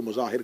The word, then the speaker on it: مظاہر: حبیب ابن مظاہر، مظاہر کہا جاتا ہے لیکن مظاہر ہے، اس کو مظاہر کہہ دیا جاتا ہے لیکن اصل تلفظ کا مظاہر ہے.